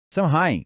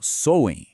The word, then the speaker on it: Samhain: o mundo deles, o Samain. Samhain, que se pronuncia algo como Soen, era muito mais do que só uma data no calendário agrícola.